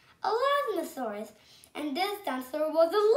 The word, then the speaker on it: Elasmosaurus: I'm going to tell you how to pronounce it. Elasmosaurus. Elasmosaurus.